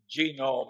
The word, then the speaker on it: genome: mentioned that one but genome I have a hell of a time putting the accident on the first syllable but that is a